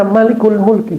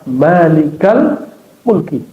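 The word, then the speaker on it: مالك الملك: Ya, kalau kata-katanya sudah bentuk idofah, mudhaf mudhaofun lain ya, frase barangkali dua kata maka tidak dibaca malikul mulki. Bacanya ya malikal mulki.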